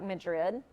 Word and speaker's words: Madrid: little town called Madrid it's spelled like Madrid but apparently it's Madrid and that was the